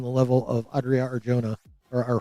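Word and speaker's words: Arjona: And you're not going to cast someone on the level of Adria or Jonah or or Huna probably is the more proper pronunciation since she's Latina. Um, and Jay's in Spanish are so Adria Arona, you're not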